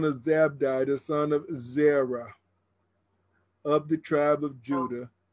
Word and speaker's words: Zerah: Carmi, the son of Zabdi, the son of Zerah, of the tribe of Judah, and took of the accursed thing. So you're absolutely right. But they spell it with a E-R-A-H, Zerah.